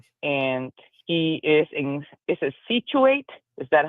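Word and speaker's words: Scituate: We've been friends for a long time, and he is is it Situate? Is that how you pronounce that? Situate, yep.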